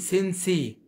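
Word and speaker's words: sensei: اي بتنطق بتنطق تي، زي ما اقول سينسي، سينسي. يبقى سينسي اللي هي سين اللي هو المعلم، او المعلم او المدرب. سينسي، سي الجزء الثاني اللي هو SIE بينطق سي، مش سينسي.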